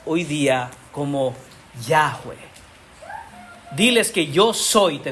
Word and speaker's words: Yahweh: Porque son 4 letras en el idioma original que acostumbramos pronunciar hoy día como Yahweh.